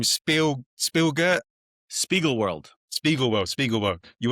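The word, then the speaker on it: Spiegelworld: Spiegel World.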